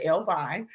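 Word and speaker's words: Ellevie: It's E L L E V I E. She pronounces El Vi.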